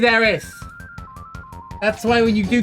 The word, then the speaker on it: Aerith: If anything, it's Ares, and you're all saying it wrong anyway. Ares like the Greek god. So, you know what, mate? It's Aerith. It was always Aerith.